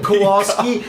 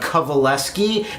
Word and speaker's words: Kowalski: for everyone else's benefit it's actually kovaleski and that's spelled the opposite of How It's said or even looked at or heard kovaleski so I want to